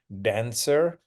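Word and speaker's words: Danswer: but I've been told it's supposed to be pronounced as dancer which I think makes more sense um and so here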